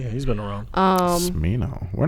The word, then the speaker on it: Smino: Smino? Thank you. I just heard about him this weekend. Supposedly he's from Cali and everyone knows him. I didn't know him. Smino? Yeah, he's been around. Smino.